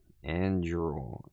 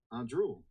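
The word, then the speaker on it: Anduril: I don't think I'm pronouncing it right. And you mean Andrew Met? No, no, no, no, no, no. Andrul. A N D R U I L. Oh, Andrul. Got it.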